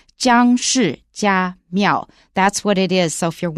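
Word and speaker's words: 姜氏家廟: It's pronounced Jiang Shi Jia Miao.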